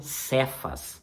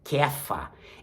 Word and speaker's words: Cefas: Simão mas de kfa você vai ler na Bíblia cefas mas a pronúncia correta é kefa isso é no aramaico